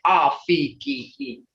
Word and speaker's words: afke: If you look at this, it's AFKE, but that's English. That's English. That's not Muskogee. Okay, so you would say Afiki.